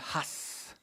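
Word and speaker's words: הַס: Et puis il y a une expression, une interjection qui se prononce en hébreu has, avec un H aspiré.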